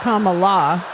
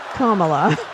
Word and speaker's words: Kamala: People have families, It's not Kamala, it's Kamala. Kamala.